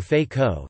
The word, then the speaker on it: Feijóo: Friar Benito Jerónimo Feijóo y Montenegro, Spanish pronunciation, Benito z Onimo Feijóo, the 8th of October 1676 to the 26th